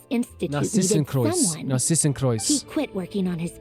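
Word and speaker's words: Narzissenkreuz: How did she pronounce the this as well? Because I've been pronouncing it as Narcissus Cruise this whole time.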